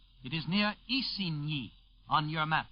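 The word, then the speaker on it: Isigny: Mi Northwest of k k by the way is spelled CA n it is near e on your map spelled i s i g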